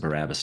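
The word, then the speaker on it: Barabbas: And so I pronounce it Barabus now just naturally.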